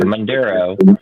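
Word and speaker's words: Maduro: So, everyone's talking about Mand uh sorry, I should pronounce it correctly. Manduro being being arrested, brought to the United States, right?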